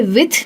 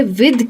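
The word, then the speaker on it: with: Actually इसे विथ नहीं कहते, इसे विद कहते हैं। इसका जो ध होता है वो काफी सॉफ्ट होता है, देन जैसा ध नहीं होता है, लेकिन होता ध है, इसलिए कहते हैं विद। विद इसको जो लोग विथ कहते हैं वो गलत कहते हैं, इसलिए ये प्रोनाउंसिएशन का आप बहुत बहुत ध्यान रखिएगा। विद कहते हैं, विथ नहीं कहते हैं।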